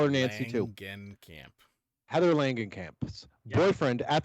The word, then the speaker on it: Langenkamp: Langenkamp? Langenkamp. Langenkamp? I'm going to call her Nancy, too. Langenkamp.